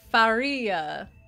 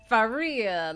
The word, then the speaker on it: Faria: so true oh yeah it's pronounced faria faria like maria but with an f hard drive activity light